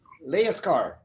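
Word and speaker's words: Lejerskar: Dan, how do you pronounce the name? Leaskar.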